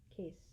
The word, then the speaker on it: caste: Case. It should be spelled case. It's spelled C-A-S-T-E, but it sounds like cast, like castaway.